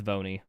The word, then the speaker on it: Voni: No, but V1, just spell out 1 and pronounce it. It's Voni.